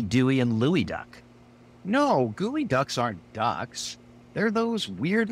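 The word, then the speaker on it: geoduck: desing it's just like gooey duck GE e o du u c k gooey duck I've only heard of Huey Dewey and Louie Duck no gooey Ducks aren't ducks they're those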